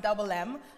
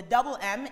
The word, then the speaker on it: DVBLM: div and hey it's it's double m it's pronounced double m um the double m is really music my name was